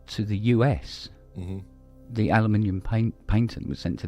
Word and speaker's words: aluminium: I love the way people overseas uh say aluminum for that actually was originally called and some